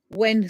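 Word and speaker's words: Eoghan: can't even pronounce it there was one EU u o g h a n when sounds like the word when all when oh nice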